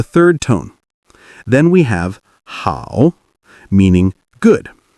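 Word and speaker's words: 好: Then we have how meaning good. Notice the slight dip in your tone.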